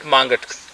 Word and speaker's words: Mangat: And Mangat, we pronounce it Mangat to be correct.